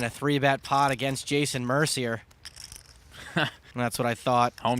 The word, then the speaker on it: Mercier: It's pronounced Mercier, you punk.